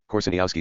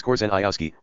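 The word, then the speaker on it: Korzeniowski: of foreignness as for the spoken name Corsinyowski is pronounced correctly as a polish name not anglicized as coranayioski makes the sound almost unintelligible to the English here we can assume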